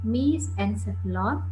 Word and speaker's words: mesencephalon: No, just please listen my pronunciation. Prosencephalon, mesencephalon, rhombencephalon.